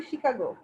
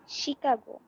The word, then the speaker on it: Chicago: শিকাগো, এটা হচ্ছে শিকাগো, উচ্চারণটা হবে শিকাগো। Chicago.